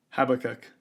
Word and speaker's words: Habakkuk: How do you pronounce this book? Habakkuk.